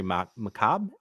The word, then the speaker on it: macabre: Very macabre. Is that how you say it? Macabre. Yeah. Macabre. The R is kind of fucky. It's there. It's like Stark.